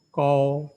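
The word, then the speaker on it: 钩: Ko. Nah, ini O-nya ada U-nya. Ya. Yang ada U-nya, O. Bukan O biasa, ada U-nya. Maka kita bacanya ko.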